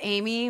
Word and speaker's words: Aimee: your uh Twitter oh it's Amy which is my name is spelled French even though I'm not French a i m e